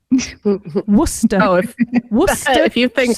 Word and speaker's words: Worcester: Which is how you say it, people. It's not Worcestershire. Worcester.